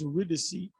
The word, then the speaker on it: Eurydice: get his wife you're with the seat is pronounced eurydice he wasn't supposed to look he was supposed